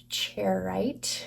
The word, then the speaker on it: Charoite: The first crystal we're working with tonight is charoite. Charoite, I think is how you say that.